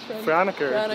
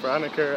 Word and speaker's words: Franeker: How do you say it, like Franeker? Franeker, yeah, Franeker.